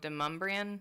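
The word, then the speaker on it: Demonbreun: Oh, Deumbrian.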